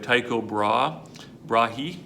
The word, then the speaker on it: Tycho Brahe: All right, we have Tycho Brahe, usually pronounced.